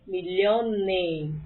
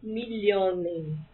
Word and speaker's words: Millionen: Einen Million, 2 milhões, vai Millionen. Aqui está no plural, portanto, atenção com a pronúncia. Einen Million, 1 milhão. Eu quero dizer 2 milhões no plural. Vai Millionen.